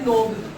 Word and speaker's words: knob: इसके बाद ये है नोब, KNOB, इसको क्या बोलते हैं सुंडी, हिंदी में क्या बोलते हैं सुंडी और हिंदी में क्या बोलते हैं पढ़नेंस क्या बोलते हैं नोब और स्पेलिंग क्या है के। अब ये समझाया हुआ मेरा कि सर के साइलेंट कैसे हुआ।